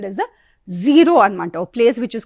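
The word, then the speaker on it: Ziro: is called as a Zero anamata, a place which is called as Zero. It is also sometimes pronounced as Zyro also.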